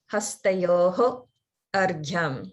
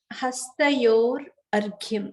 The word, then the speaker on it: hastayor arghyam: If you do break them apart, or if you hear someone break them apart, the way they'll say it is hastayoho argyam, because at the end of hastayo, there is a visarga. It's just that when you combine it with argyam, that visarga turns into a ra sound.